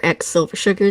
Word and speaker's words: X Silver Sugar: You can find me on the internet as Silver Sugar or X Silver Sugar. The X is silent.